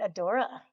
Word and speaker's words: Adora: And Adora. Hi. Did I pronounce it correctly? Yes. Yes.